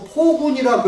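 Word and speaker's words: 暴君: 폭이라는 것은 갑자기라는 이런 뜻이 있고 사납다고 할 때는 포라고 읽었습니다. 폭. 포악하다고 그러죠. 그렇죠. 포악이지 폭악이 아닙니다. 그래서 포군이라고 해야 옳습니다.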